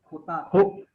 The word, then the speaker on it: jota: J, Jota, J is pronounced as Kh. Khota.